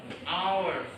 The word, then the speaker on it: hours: yang bisa membetulkan Oke karena walaupunun cara membacanya Oke Betul sekali jadi our memang awalan huruf depannya adalah konsonan H namun membacanya vokal Our ya Jadi pakai bukan a